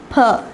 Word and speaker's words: peux: Similar to the vouloir conjugation, peux, it is pronounced as peux. The X here is silent.